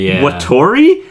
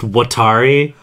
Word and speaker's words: Watari: did you do with Wattori?" They couldn't even pronounce the name right. Also, did they not? It was Wattori. Also, his name was just Watari.